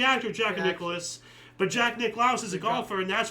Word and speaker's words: Nicklaus: So the golfer, not the not the crazy ass actor, you know who I've always said Jack Nicholas. Yeah, it's Jack Nicklaus. He pronounces it Nicholas.